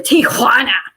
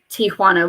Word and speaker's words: Tijuana: i remember that but j's sound like h's so i guess tijuana would be a more accurate pronunciation but like they just say it so obnoxiously and like they put emphasis on the so it's not it's not just tijuana it's tijuana and